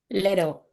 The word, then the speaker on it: little: They normally the T's are silent. Okay? And in most of their spellings when you see two T's, they become a D.